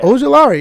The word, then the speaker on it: Ojulari: Aziel, I don't know how to pronounce that name, but he's an edge. Ojulari. Yeah. Ojulari.